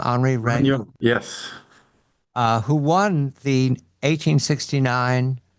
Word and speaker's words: Regnault: Henri Regnault.